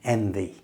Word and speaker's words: envy: To make it, your top teeth must touch your bottom lip and then bring your throat voice in like this. Vv. If you say it right, your lip should tingle.